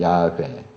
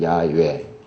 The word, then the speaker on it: 야훼: 이제 이것이 제호바 해서 이제 영어로 번역되고 우리가 여호와 이렇게 발음하는데, 워낙에 이제 발음은 그동안 이제 연구한 바로는 야훼, 또 야훼, 혹은 야훼, 이게 정확한 발음이다.